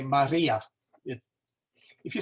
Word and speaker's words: Maria: really if we're going to do uh Mary Maria in English we want to kind of do a a little roll in there and say Maria it if you say it fast enough it's